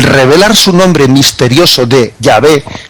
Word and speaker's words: Yahvé: YHWH, en hebreo no se escriben las vocales sino las consonantes, y luego digamos se va el nombre de Dios, para no pronunciarlo plenamente, para subrayar el sentido misterioso hacia el nombre de Dios, se pone en consonantes, y luego cuando se pronuncia se dice Yahvé, pero al escribirlo se pone solo las consonantes.